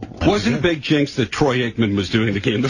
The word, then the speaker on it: Troy Aikman: Wasn't a big jinx that Troy Aikman was doing the game, the former Cowboy? I think Troy Aikman's a queer. Hello. But he gets his name wrong, Troikman.